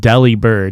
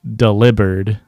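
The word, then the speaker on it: Delibird: __ ] Pokemon but everybody pronounce it Delhi bird because it's DLI d-e-l-i-b-i-r-d but it's definitely supposed to be delivered like delivered just very funny that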